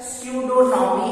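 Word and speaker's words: pseudonym: उसी तरह से स्यूडोनॉमी है पी एस ई यू डी ओ एन वाई एन, यहाँ पी साइलेंट हो जाएगा।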